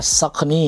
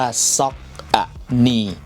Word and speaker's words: Saucony: นะ ครับ ก็ คือ ใน ประเทศ ไทย เนี่ย มัก จะ เรียก ว่า ocy นั่น เอง นะ ครับ ผม ซึ่ง การ อ่าน จริง ๆ แล้ว เนี่ย ของ แบรนด์ เขา อ่าน ว่า ซอก อะนี ตาม นี้ เลย นะ ครับ ผม